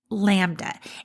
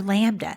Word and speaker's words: LaMDA: It's important that we talk about AI sentience, and I'm specifically talking about LaMDA, and it's spelled uppercase L, lowercase a, uppercase MDA.